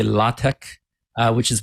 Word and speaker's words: LaTeX: fancy you can say latek uh which is my understanding is how it's officially pronounced but in any case